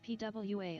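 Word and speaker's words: Poirot: right there spin dash Diva said pronounced pwa according to okay yeah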